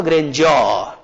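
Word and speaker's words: grandeur: तो यहां इसका उच्चारण होगा ग्रेंजर, बट इन द ग्रेंजर ऑफ बिग।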